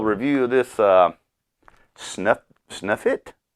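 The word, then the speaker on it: Sutliff: of this uh snuff snuff it snuff it lit s-u-t-l-i-f-f that's how it's pronounced God it would stop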